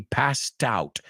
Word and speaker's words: passed out: Y fíjate cómo lo pronuncio. La T ahí, passed out. La T se une con el out.